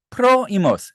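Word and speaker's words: πρόϊμος: 요게 디에레시스가 여기 붙은 거는 우물라우트 같이 생긴 거 발음을 이렇게 해야 된다는 얘기예요. 프로이머스 이렇게 좀 나눠서 해야 된다는 얘기죠. 프로이머스가 아니라 사실은 프로이머스 이렇게 해야 된다는 얘기고요.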